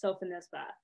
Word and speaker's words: Sophonisba: during her lifetime and that person pronounced it sofinisba and so that had already been my leaning because her nickname was well nisba and it just sounded strange to me to say nisba i mean sulfur sounds